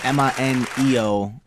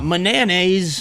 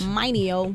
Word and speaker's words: Mineo: Mineo. You wouldn't believe how butchered my name gets. It's phenomenal. Yeah, I remember. I used to butcher it. Niner. Yeah. Mineo. Mananays. Mineo. Yeah.